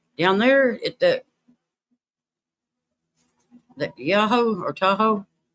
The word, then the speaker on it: Tahoe: You know where Robbie down there that yahoo or tahoe that's how you have to say it.